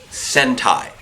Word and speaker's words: sentai: While Antonio battles Octaroo, okay, it's pronounced sentai, people with an S, Deku takes this opportunity to grab Jaden and leap off into the distance.